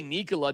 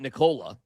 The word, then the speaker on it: Nikola: I mean, we could all say Nikola, not Nicola.